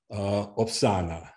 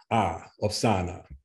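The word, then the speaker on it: Օվսաննա: So, for example, the word Hosanna in Armenian is Opsana, Opsana.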